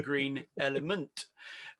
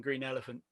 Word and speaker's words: Green Element: He is the host of a podcast which is phonetically closest to ours, called The Green Element. Sorry for my pronunciation on that because I keep on saying Green Elephant.